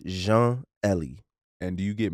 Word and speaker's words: Jean: Nah, it'd be Jean. I'm like Jean-Claude Van Damme. Jean. Jean Valjean. Jean. Right, it's simple. Very simple. Hey man, get it together, man. Let's get the pronunciation correct.